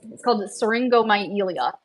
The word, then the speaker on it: syringomyelia: But it's called syringomyelia, but I can never say it right. That's probably not pronounced right. The first part looks like syringe, myelia.